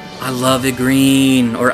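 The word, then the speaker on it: Igrene: We have, oh, Igreen! I love Igreen, or Igreen, however you want to say her name. It's like Irene with a G thrown in.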